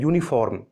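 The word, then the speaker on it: uniform: यूनिफॉर्म की जो sound है यूनिफॉर्म, वो देखिए या साउंड है यूनिफॉर्म। या एक कॉन्सोनेंट साउंड है इंग्लिश में, इसलिए ए का यूज किया गया है।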